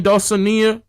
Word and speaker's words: Dulcinea: How you pronounce her name? Dulcinea.